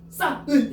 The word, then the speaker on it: 쌓은: 요거 발음하면 싸은 이렇게 발음해. 싸은 이렇게 그냥 싸은 이러잖아. 싸은. 그러면 쌓은 이러니까 뭐가 발음이 안 돼? 히이 발음이 안 되지. 이게 뭐 탈락이라고? 히 탈락.